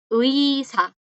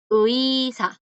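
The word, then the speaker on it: 의사: Uisa, Uisa, porque tiene esa U ahí feilla. La U que es como metida. Uisa.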